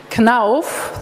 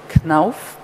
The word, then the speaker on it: Knauf: Knauf, this is how you pronounce it, Knauf, is a family-owned enterprise.